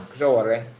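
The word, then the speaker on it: Sowore: Yeah, Showore. That's the correct pronunciation. Showore.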